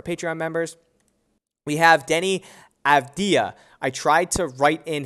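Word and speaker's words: Avdija: corrected so many times on stream i keep pronouncing it abdijah but it's fda so denny abdia in a smaller sample size looks really good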